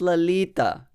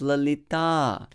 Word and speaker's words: Lalita: Vishakhe, but you know, it's not Lalita, it's Lalita, okay? It's not Radhika, it's Radhika. Very often we have to restructure our system, you know, in order to get used to the right pronunciation of Sanskrit words, especially those that have long vowel at the end.